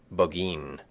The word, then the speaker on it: Burgoyne: had a famous foxhound named burgoyne he pronounced it bogeen which my informant used